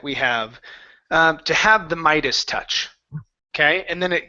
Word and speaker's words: Midas: everything to have the Midas touch so that word is Midas try that the Midas touch the Midas touch ok